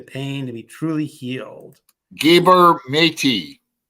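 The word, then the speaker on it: Gabor Maté: to be truly healed gabber matey is how you pronounce his name uh MJ probably knows him gabber matey is a fantabulous fantabulous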